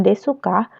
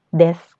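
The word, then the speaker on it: ですか: nggak ada artinya begitu nah bacanya bukan desuka tapi desc Hai untuk contoh kalimatnya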